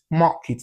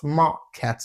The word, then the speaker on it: market: So all of these words, toilets, market, the letter E are the last syllable of these words should be pronounced as the E sound. So that's toilet, market, not toilet, not market. No, it should be you should pronounce it as toilet and market.